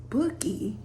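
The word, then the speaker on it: Boki: It's spelled B-O-K-I, but then it's pronounced Bookie, and the only reason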